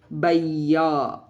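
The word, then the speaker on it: भैया: Whenever it is followed by a semi-vowel, it is pronounced as a combination of two vowel sound A and I, such as baiya.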